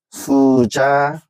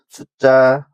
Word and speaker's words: 숫자: 화면에 보시다시피 제가 먼저 써 놨는데이 여섯 개의 단어를 먼저 한자 보는 그대로 읽으면 뭐가 되냐면 얘는 차관이 되고 그다음에 고간 그다음에 퇴간 수자 회수 세방이라고 읽을 수가 있습니다. 근데이 여섯 개의 단어들은 어 한자의 사이오시프트 그래서 착간, 곡간, 색간, 숫자, 횟수, 새빵이라고 읽으셔야지 표준화가 되는 것입니다.